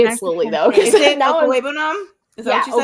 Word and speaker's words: Okwuegbunam: Is it Okwuegbunam? Is that what you said? Okwuegbunam. Okwuegbunam. Yeah, it's honestly, when you look at it, it's really lame, but it's exactly how it's spelled.